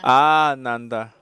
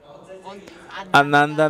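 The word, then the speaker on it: ānanda: a corta se escucha como a la a prolongada se escucha como ananda pero si la haces corta la a ananda una a corta significa no ananda significa una persona infeliz Así que cuando pronuncien sánscrito tienen que tener mucho cuidado no digan ananda Eso significa el señor infeliz tienen que decir ah Nanda Eso significa superfeliz De cualquier manera ananda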